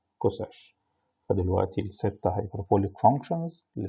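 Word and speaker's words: csch: ساك اللي بننطقها ساش، هايبربوليك كوساك بننطقها كوساش. فدلوقتي الستة هايبربوليك فانكشنز اللي اسمهم شاين كوشاين تانش كوتانش ساش كوساش اللي هم يشبهوا ساين كوساين تان كوتان ساك كوساك.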